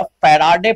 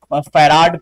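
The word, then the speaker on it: farad: 10 के power -12 फैराडे पर metre. कोई बहुत सारे लोग फैराड पर मीटर भी प्रोनाउंसिएशन करते हैं, और कोई फैराडे पर मीटर भी बोलता है, तो कोई भी आप बोल सकते हो।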